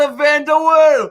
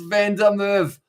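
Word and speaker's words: Van der Merwe: to hastings voice the white ball out to vanderwaal oh i said his name wrong but he scores the troy it was van der merv who was able to score it for scotland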